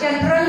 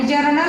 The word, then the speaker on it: journal: जनरल नव्हे, जनरल हा शब्द वेगळा आहे आणि जर्नल हा शब्द कायम तुमच्या आता तोंडी बसणार आहे कारण आपण जर्नल सोडवणार आहोत. जनरल नव्हे, जर्नल म्हणायचं आहे.